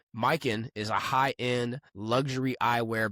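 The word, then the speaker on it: Mykyn: That's spelled M Y K Y N. Mikin is a high-end luxury eyewear brand focused on quality, craftsmanship, and timeless style.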